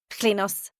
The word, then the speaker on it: Klinos: The brunette woman introduces herself next, pronouncing the first sound of her name with a liquid noise somewhere between a C and an L.